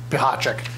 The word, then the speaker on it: Pihachik: benefits and services and pihachik you can look at the name and you will never pronounce it correctly again so just think of it phonetically it's bihachik and josh johnson both